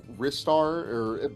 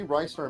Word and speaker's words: Ristar: Yeah, I've heard people say like it's Ristar but to me Rystar makes it because that's like the Japanese pronunciation. I'm pretty sure, so I just go with that.